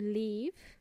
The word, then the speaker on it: leave: you live and uh the other word to leave means they had it has a longer sounding e sound for example leave me